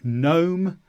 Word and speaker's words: gnome: Next, G before N is never pronounced. So gnome, there's a gnome in the yard.